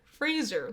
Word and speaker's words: Fraser: his name is Brandon Fraser like razor Fraser yeah he came out and like did a video and he like said that Fraser like Razer and he's like people